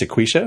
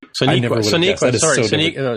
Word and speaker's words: Sonequa: So that name is Sequisha. Is that how that's pronounced? Yeah, Sequisha Martin Green, yeah. Sonequa. Sonequa. Sorry, I'm reading it wrong.